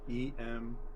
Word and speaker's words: Emme: So M7 phonetic phonetically pronounced spelled in Spanish. Emme.